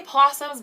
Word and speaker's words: opossum: to bimbo fi opossums we say possums but i know it's